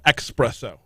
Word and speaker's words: espresso: pronounce it soprano style espresso even though there's no X in the word there is not yeah